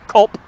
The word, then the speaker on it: Kolb: And what we have here in front of you is a log cabin that was owned by the Kolb family, sometimes pronounced Cobb. I've even seen it pronounced Culp.